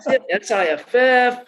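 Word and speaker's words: PSIF: It's a rare acronym with a silent letter in it, right? The silent P, I was like, SIFF, what is anyway, yeah, so they put a silent P in there.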